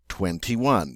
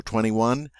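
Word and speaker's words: vingt et un: The way the French say it is 21, 21. Notice they say 20 and 1. That ET means and.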